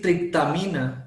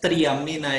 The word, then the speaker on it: triptamina: estoy trando mira dimetil triptamina que es diferente y es esta molécula Esa era la que le decía profe entonces no es triamina Es triptamina mira tiene aquí tiene pronunciando